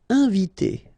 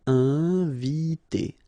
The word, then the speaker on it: inviter: Inviter. Okay, I-N together, nasal, inviter, inviter.